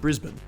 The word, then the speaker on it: Brisbane: This word is pronounced Melbourne, and this word is pronounced Brisbane.